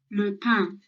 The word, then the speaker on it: le pain: So it's a silent N sound at the end.